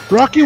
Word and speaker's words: Rocke: It's actually Rocky, not just Rock.